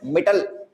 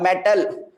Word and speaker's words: Mittal: Or some people may say my name as Mittal or metal. So, I am not a metal, guys.